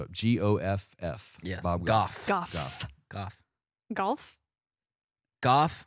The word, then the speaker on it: Goff: g-o-f-f yes goth golf golf rhymes with off just like this podcast